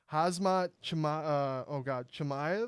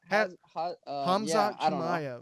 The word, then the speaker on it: Hamzat Chimaev: But I had another question for you with this new kid on the block, Hazmat Chimaev. Is that how you say it? Chimaev? Oh yeah, Hamzat Chimaev.